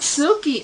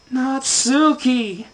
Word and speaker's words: Natsuki: oh my gosh what is your name not sookie okay if your name's not sookie then what the heck is it natsuki okay um i got a great idea what